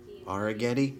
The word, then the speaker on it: Arrighetti: SA, A is 1, Spencer Arrighetti. Hey, his last name rhymes with spaghetti. Arrighetti, spaghetti.